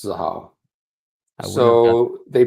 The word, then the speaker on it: Xahau: Xahau is how it's pronounced. Xahau.